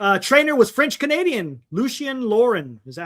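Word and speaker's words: Lucien Laurin: Lucian Lauren. Is that how you say it? Lucian Lauren. Lucian Lauren.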